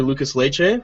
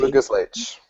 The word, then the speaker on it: Lucas Leite: Yeah, so just for those of you who don't know Ericson, he's a blue belt under Lucas Leite, right? Yes, He's Lucas Leite. The E is silent.